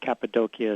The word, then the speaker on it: Cappadocia: also knows Cappadocia but Cappadocia is how they tend to pronounce in Turkey which is the area